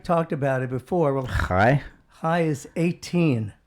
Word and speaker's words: chai: Well, Hi? high is 18. How do you spell that? 18, E-I-G-H-T. No, high. Is it pronounced hi? Yes, C-H-A-I. Hi.